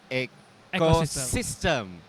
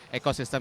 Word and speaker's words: Ecoxyztem: Siap, ini Arya dari Ecosystem. Ecosystem itu kalau teman-teman mau follow Instagramnya boleh, karena bukan ekosistem biasa ya, ekosistem dengan spelling yang beda.